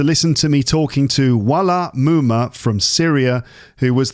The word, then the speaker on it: Walaa: There's a little glottal stop at the end of the word. Walaa.